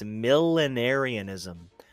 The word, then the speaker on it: millenarianism: Okay, it is, and it's so weird the way it's spelled. It's millenarianism. Millenniarianism.